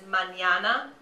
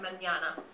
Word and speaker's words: mañana: Yeah, so for instance, the word for tomorrow in Spanish is mañana, and that has a little mustache over the first N in that, mañana, okay?